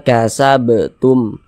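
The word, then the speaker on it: كسبتم: satunya adalah huruf ba maka huruf-huruf tersebut kalau dia sukun pantulkan cara bacanya kasabtum begitu dan ini termasuk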